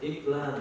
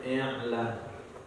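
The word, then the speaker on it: إعلان: Bukan iklan, tapi i'lan.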